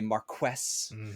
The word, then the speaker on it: marquess: uh or well sorry the British would say Marques uh because because damn if we're gonna say a French word properly no no the